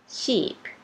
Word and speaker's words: sheep: ช ช้าง นะ คะ คำ ต่อ มา Sheep Sheep แปล ว่า แกะ นะ คะ ออก เป็น สระ